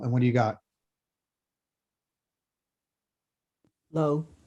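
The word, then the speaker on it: לא: How do you say no in Hebrew? Somebody tell me. Replace the letter N with the letter L. And what do you got? Low. Low.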